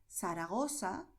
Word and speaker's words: Zaragoza: Y lo que pronunciamos será, por un lado, el sonido de S, que es el sonido que escucharás en cualquier país de América Latina donde se hable el español.